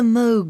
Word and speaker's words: Moog: Although the Moog synthesizer, the word rhymes with vogue, not fugue, has had its greatest